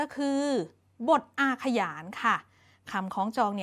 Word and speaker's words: อาขยาน: บท อาขยาน นะ คะ คำ นี้ นะ คะ เด็ก ๆ อ่าน ออก เสียง ว่า บท อา ค่ะ หยาน อ่าน ออก เสียง เป็น อักษร นำ นะ คะ เด็ก ๆ ไม่ อ่าน ว่า อาขยาน นะ คะ อ่าน ว่า อาขยาน นะ คะ บท อาขยาน คือ อะไร บท